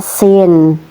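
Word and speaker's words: س: Ini tadi namanya sin diharakati fathah maka dibaca a jadi sa ini tipis ya.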